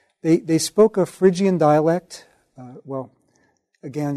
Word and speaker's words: Phrygia: 4 they spoke a Phrygian dialect well again if I pronounced it the way they did back then it was fruga but we say Phrygia their Phrygian dialect but